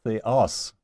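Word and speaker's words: θεός: Well, here we have a acute accent on the last syllable of theos.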